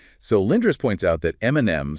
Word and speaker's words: Eminem: So, Lindris points out that Eminem spelled his rap name phonetically, e m i n e m, specifically to sound like his initials, m and m.